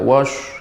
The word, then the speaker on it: والشمس: الرحمن الرحيم والشمس وضحاها Coba Pak Salman untuk huruf tasydid والقمر ya, untuk huruf tasydidnya lebih diperbanyak. Wasyamsi wa duhaha. Wash. Ya, tapi tidak boleh monyong. Tidak wash, enggak. Wash. Ya, dibuka. Silakan diulang kembali.